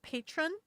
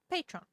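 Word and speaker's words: Patrón: The accent is on the bottle. It wasn't in the script, I think. Spanish. It's Spanish.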